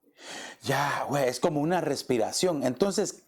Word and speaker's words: Yahweh: Pero los hebreos, los judíos dicen de que estas palabras YHWH es como una respiración, es como cuando se respira. Y pronuncia Yahweh, Yahweh, es como una respiración.